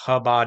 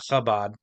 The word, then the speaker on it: Chabad: So like if it was supposed to be pronounced Chabad, not Chabad, I would actually have to consciously think about not putting the phlegm in that word for some reason.